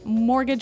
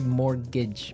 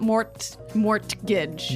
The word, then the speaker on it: mortgage: I mean, there's this strange mortgage with a T. Yeah. It has a T in it, but you don't pronounce it. You say mortgage. Mortgage. So, not mort mortgage.